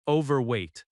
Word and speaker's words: overweight: The stress falls on over overweight.